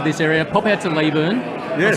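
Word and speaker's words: Leyburn: And if you ever get to this area, pop out to Leeburn.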